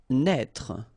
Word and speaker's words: naître: Naître. Okay, same thing here for the circonflex. Write it, but don't pronounce it.